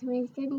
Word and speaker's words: Wisdom: And some people think that my name is spelled W-I-Z-O-M. Really? Yeah, because sometimes the Z kind of sounds like an S. The S kind of sounds like a Z in your name, huh?